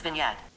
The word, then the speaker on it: vignette: g n8 PPE hey turkey OG&E GTD is pronounced as vignette perfect meaning is the last thing make normal